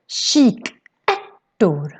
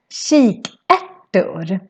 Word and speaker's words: kikärtor: So it's sh sound in the beginning and then a k sound in the end. So that's why it's called kikärtor. Kikärtor.